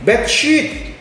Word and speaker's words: beach: Kid dance hip ya Jadi ini beach yang pengucapannya agak panjang ya Dok Tuh kan gede